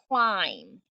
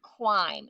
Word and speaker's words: climb: it's the word climb it's got a silent b because when b and m are together on a one syllable word the b is going to be silent if it's m b at the end of a syllable word a one syllable word it's gonna be silent the b is gonna be silent but the vowel will turn long it's real confusing so